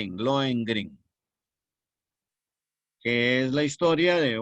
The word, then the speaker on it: Lohengrin: Por ejemplo, Lohengrin, Lohengrin, así como lo estoy pronunciando, Lohengrin, que es la historia de un caballero de